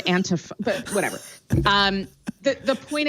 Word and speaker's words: antifa: it's being pronounced is antifa there is no long e sound in the word antifa but whatever um the